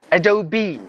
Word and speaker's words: Adobe: you okay the word we usually say Adobe like Adobe uh Photoshop Adobe Reader not that word is actually pronounced as Adobe so that means we have to pronounce the letter e as well Adobe and then there's a